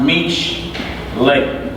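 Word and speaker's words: משלי: It's pronounced mish lay.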